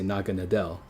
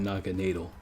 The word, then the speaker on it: Naganadel: So it's Naga and then natal. But if you just read it like whatever, you would say Naga Nadel, because you can't say dill. You can't say dill. But in Germany, in the German language, you would pronounce this natal. So if you were to respect it for its name origins, you would call it Naga natal.